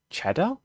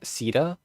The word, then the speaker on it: Cedar: On August the 1st, 2025, me and Sh had a conversation about their trip to uh Cheddar. Is it CEDA? Is this how you say it? CEDA.